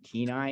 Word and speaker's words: Kenai: and then the town next to Soldotna is called Kenai, and that's where the Kenai River Brown Bears come from. Okay. So Kenai.